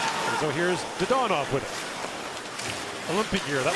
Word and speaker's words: Dadonov: blocked by Evgeny Dadonov, who's asked that his name be pronounced the more traditional Russian way rather than Dadonov, which is what he had to say when he was in Florida and Ottawa.